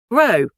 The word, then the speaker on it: row: Row. Row. It is also a noun and a verb, which means an argument or to argue. It rhymes with how and now.